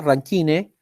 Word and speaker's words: Rankine: Hay una 4ª escala, chiquillos, que se llama Rankine, tal cual como se pronuncia, Rankine, pero no está tan utilizada.